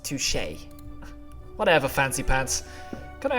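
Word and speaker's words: touché: say something I didn't want to touch it's pronounced touche whatever fancy pants can I ask my actual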